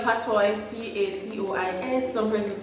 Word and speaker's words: Patois: Some persons spell Patois, P-A-T-O-I-S. Some persons spell it P-A-T-W-A. Some persons spell it P-A-T-W-A-H.